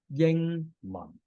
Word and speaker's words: 英文: The pronunciation is Ying Man. You should be familiar with the consonants and vowels. The last bit of this is the notation of the Cantonese tone system.